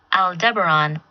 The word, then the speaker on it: Aldebaran: weird thing to pronounce so you can hear it's pronounced Aldebaran Oh Deborah nuts Alda Baron I don't really care how you pronounce it in your minds but that was the correct pronunciation Oh Deborah Ron is